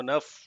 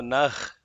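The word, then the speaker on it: नः: Bhurбhuvasvaha tatsavitruvarenyam bhargo devasthidimi dhiyo yo naf prachodayat, not dhiyo yo nah prachodayat. Phonetics, right? Yes, sir. Pa. The visarga before the pa has to be pronounced as fa. Huh?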